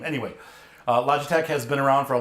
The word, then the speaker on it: Logitech: to point out that it's pronounced Logitech it's a play on the word logic I watched probably seven or eight reviews on YouTube and all these knuckleheads were calling it a log attack because they don't they